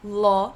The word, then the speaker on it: law: Então, a gente tem law, que é lei, e a gente pronuncia law mesmo, tá?